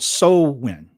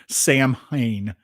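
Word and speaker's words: Samhain: the fall and and it's called soul win even though it's it's spelled Sam Hane, right?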